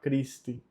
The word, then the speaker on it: Christi: O C com H tem som de K, Christi.